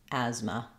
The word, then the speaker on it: asthma: as how it's written letter A in asthma the first letter A says the a like in Black Cat and it's stressed on this syllable so the as will be long and the M will be short in addition to being short the second syllable has the letter a is an unstress vwa which sounds like a so stretch on as and then short on Ma Asma Asma and then